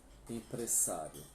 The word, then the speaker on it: empresario: Empresário, em espanhol, tem a mesma escrita, só perde o acento agudo. E a pronúncia, né, que o S vai ser 2 S. Empresário.